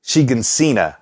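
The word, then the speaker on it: Shiganshina: This basement back in Shigansina, I think is how it's said.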